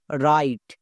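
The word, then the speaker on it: write: যেমন দেখো এই ওয়ার্ডটার উচ্চারণ করব রাইট। কেন? এখানে ডব্লুর উচ্চারণ হবে না, ডব্লুর পরে কি আছে? আর আছে। নিয়মে কি বলা ছিল? ডব্লুর পরে আর থাকলে ডব্লু সাইলেন্ট থাকে, আর যে সাইলেন্ট থাকবে তার উচ্চারণ করতে হয় না।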